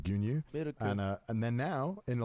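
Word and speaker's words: 牛乳: places, you know, milk is traditionally like just pronounced like gunyu, and then now in a lot of coffee places it's like miruku.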